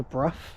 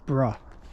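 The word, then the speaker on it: Brough: Um, I used to actually think it was pronounced Bruh, but actually like Bruh. It's not. It's Bruff.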